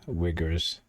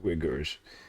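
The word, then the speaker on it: Uyghur: in china with the riggers it's funny how they spell it the pronunciation is with w wiggers okay so yeah you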